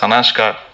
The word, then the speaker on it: Sanashka: அண்ட் இந்த newbie இந்த செட், நம்ம பேர் சனாஷ்கான்னு மாற்றிருக்கீங்களா? சனாஷ்கா, am I pronouncing it right?